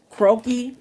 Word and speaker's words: croquis: unfamiliar with croquis um croaky is spelled c-r-o-q-u-i-s again c-r-o-q-u-i-s croaky is basically um a french term that it that means